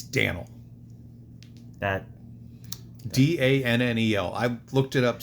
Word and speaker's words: Dannel: It's not Daniel. It's Danel.